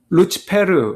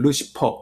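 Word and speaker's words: Lucifer: 샛별 새벽별이 이루고 싶어요 이게 라틴어로 는 루치 페르 라고 하는 발음이 영어로 이걸 루시퍼 이렇게 발음 하거든요 라틴어로 새벽별이 란 뜻입니다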